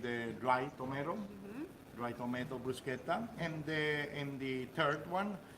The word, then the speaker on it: bruschetta: correct pronunciation is yes anytime you're here in Italy anything that is a CH we pronounce with the key que we don't pronunci